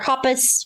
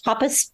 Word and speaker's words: Hoppus: them talk like Mr Hoppus Hoppus how do you say his last name Hoppus Mark Hoppus every I say Hoppus I feel like think I'm saying hippo but anyway that guy